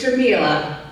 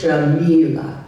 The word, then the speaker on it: Jamila: It's Jamila. I know people sometimes mispronounce it, so it's Jamila.